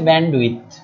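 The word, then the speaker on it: bandwidth: এখন আমরা যে ধারণাটা বুঝবো সেটার নাম হচ্ছে ব্যান্ডউইথ। উচ্চারণটা হচ্ছে ব্যান্ডউইথ। ডিটা এখানে সাইলেন্ট, এই যে ডিটা আছে,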